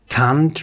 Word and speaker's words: Kant: Immanuel Kant, and you actually pronounce it Kant, right?